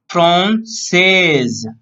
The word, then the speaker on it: française: For here, last word is so she will pronounce française.